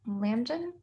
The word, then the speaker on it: Lambden: But to answer your question, Dr. Lambden, I think is how you pronounce your name. Sorry, I'm not very good at pronunciations, but I think that's correct. Yes, that's correct.